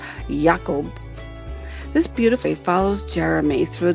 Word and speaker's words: Jacob: yeah that Jacob Grim or as it is properly pronounced and specifically mentioned in the book yakob this beauti follows Jeremy